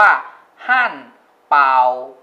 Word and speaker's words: 汉堡: ก็ คือ แฮมเบอร์เกอร์ แฮมเบอร์เกอร์ คน จีน ออก เสียง ว่า ฮั่น เป่า เป่า ฮั่น เป่า เป่า เ่า